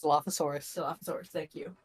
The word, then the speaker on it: Dilophosaurus: part stegosaurus and dilfosaur I forget how it's pronounced Dilophosaurus Dilophosaurus thank you D the D um and